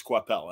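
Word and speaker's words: Coipel: c2e2 uh day and he's like it's quapel and I'm like good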